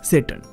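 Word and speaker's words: Tsetan: इसका नाम है सैटर्न। अब टी यहां पे साइलेंट है।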